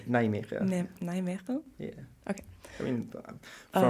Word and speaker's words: Nijmegen: I don't want to say the name because I'm going to pronounce it wrong. It's Nijmegen.